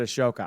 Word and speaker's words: Ahsoka: Edge and perhaps find Ahsoka oh he said a shoka I'm sorry Brian you said it right and